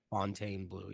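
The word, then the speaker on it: Fontainebleau: and it's at the Fontaine Blue in. Is that how you say it? Fontaine Blue, yeah. Oh, okay. So it was Fountain Bleu. It's French.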